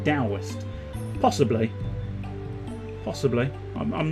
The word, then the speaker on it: Taoist: Even though it's spelt with a T, Taoist is actually pronounced more like Taoist.